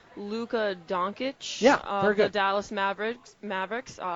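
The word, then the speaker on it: Dončić: to, correct me if I do pronounce his name wrong. I believe it's Luka Doncic, very good.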